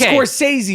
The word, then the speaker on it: Scorsese: Jesus Christ, you haven't even pronounced Scorsese's name right. Lorraine Bracco, and it's Scorsese, motherfucker.